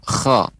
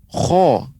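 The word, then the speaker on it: خ: Namun dia masih bagian tenggorokan paling atas, yaitu huruf kha. Kha, khi, khu, akha, ya. Pengucapan kha tidak boleh monyong. Kho, keliru, ya, kurang tepat. Kho, bukan. Tapi kha tetap bibir kita tetap datar.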